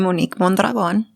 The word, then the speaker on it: Monique Mondragon: I'm Monique Mondragon.